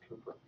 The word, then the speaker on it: Kuiper: It's pronounced Cooper.